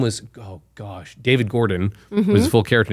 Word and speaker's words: Gordo: So I pronounced it Gordon. I thought it was Gordon. Gordo. Well, that's his like nickname.